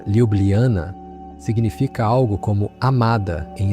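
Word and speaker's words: Ljubljana: Seu nome, que se pronuncia Liubliana, significa algo como amada em esloveno.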